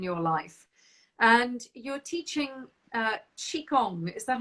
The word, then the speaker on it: Qigong: And you're teaching Qigong. Is that how you say it? Qigong, yes.